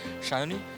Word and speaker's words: Sayani: Shayoni, so lovely to have you here at India Web Fest 2019 Season 2. How does it feel to be here? It feels good because you pronounce my name correctly.